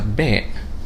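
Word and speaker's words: باء: start with the letter b b it gives the same sound as the letter b in english so it's a very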